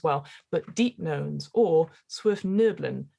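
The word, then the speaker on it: svirfneblin: but deep knowns or swift nerblin as i believe is pronunciation um they're sort of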